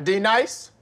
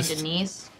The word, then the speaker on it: Denise: now d nice do you mean denise you say your name right right now denise say it right denise correctly denise right denise right d nice that's better thank you now